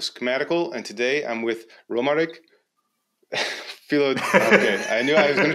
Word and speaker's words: Romaric: It's Romaric, Philogène from Qovery.